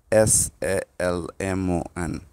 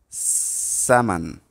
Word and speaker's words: salmon: do you know the pronun pronunciation of of this word s a l m o n this is called samon samon the TR will be on the syllable